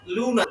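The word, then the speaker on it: luna: জানি এরপর হচ্ছে এলমে উ লু লুতে হলো লুনা লুনা মানে কি চাঁদ এরপরে যে বর্ণটি রয়েছে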